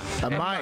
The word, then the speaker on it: Amaya: now how do you say your last name Amaya Amaya yeah okay Amaya yeah originally if uh